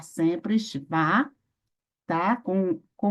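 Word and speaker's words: שווא: Essas palavras se devem pronunciar sempre Shva, tá?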